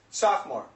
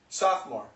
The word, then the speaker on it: sophomore: the spelling the spelling is sopore but the pronunciation is sophomore sophomore sophomore then it's Junior and then it's senior